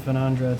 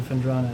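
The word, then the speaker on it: Phendrana: You know, after having read it so many times on stream, I've actually fixed my mispronunciation of Fenandra to Fendrana.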